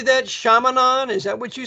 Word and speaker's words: Chaminade: Chaminade? Is that what you said? Yeah. Chaminade.